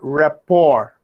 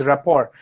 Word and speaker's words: rapport: lack of rapport r-a-p-p-o-r rapport r-a-p-p-o-r is ort is rapport you don't pronounce the last t because it's a french word rapport and just for